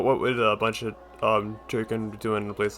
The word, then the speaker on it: Tirkin: That's it, they're called Turkin. You see, I almost said Tirkin.